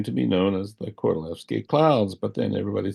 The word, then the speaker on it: Kordylewski: It's spelled with a K, and it looks like Kordylewski, but the Poles pronounce a W like a V, as in, for instance, saying the name of the composer Wagner. You say Wagner, not Wagner. And so he's Kordylewski. And these clouds came to